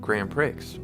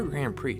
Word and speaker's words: Grand Prix: Nickelodeon cart Racers 2 Grand Pricks or Grand Prix depending on how you like to pronounce this little word this is currently $3.99